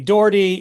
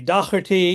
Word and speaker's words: Doherty: My maternal grandfather was a Doherty, and it was very interesting because if you asked him how to pronounce his name, it would be Doherty, it'd be Docherty, it'd be Docherty, it'd be Doherty.